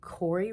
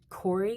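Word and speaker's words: Koury: is lofted I'm in Corey residence hall that is k-o-u-r-y I'll spell it but Corey is the dorm I recommend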